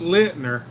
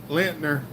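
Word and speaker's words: Lindner: The company is it's pronounced Lintner. Lintner. Lintner.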